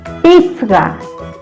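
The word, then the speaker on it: pisqa: Pizga, pizga. La pronunciación es importante, ¿ya? Pizga, pizga. Esta Q suena como G, ga.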